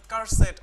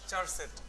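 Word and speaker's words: charset: এটাকে অনেকে উচ্চারণ করেন কার সেট, অনেকে এটাকে উচ্চারণ করেন চার সেট, হোয়াট এভার, ঠিক আছে?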